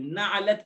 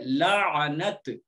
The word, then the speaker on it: لعنت: لعنت ہی کہتے ہیں، لوگ اس کا تلفظ غلط کرتے ہیں، الٹا سیدھا کہتے ہیں، نعلت کہتے ہیں، نعلت نہیں ہے، پہلے لام ہے، پھر عین ہے، پھر نون ہے، پھر تا ہے، لعنت۔ لعنت کے معنی کسی